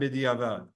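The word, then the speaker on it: בדיעבד: the words lechatchila and bediavad. Okay? Lechatchila bediavad. And I'm giving this to you in the Sephardi pronunciation of lechatchila and bediavad. In Ashkenazi or in Ashkenaz, what would you say?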